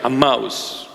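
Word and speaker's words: Emmaus: were walking to aous a that's a proper pronunciation a mouse those two friends that were walking one of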